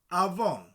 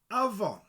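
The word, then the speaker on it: afon: The F is a V sound. Avon, river. Avon. Avon.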